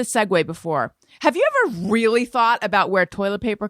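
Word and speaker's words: Reel: love real paper and it's spelled r-e-e-l so real paper it's soft it's strong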